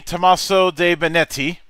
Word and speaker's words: Tommaso De Benetti: the one and only Tomaso de benetti yeah absolutely right you are you're you did a great job with my name is not easy but you remember how to pronounce it so congrats after dealing